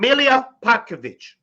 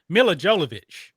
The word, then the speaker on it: Mila Jovovich: White, Dolph Lundgren, Vin Diesel, Jean-Claude Van Damme, Chuck Norris, and Milia Popovich.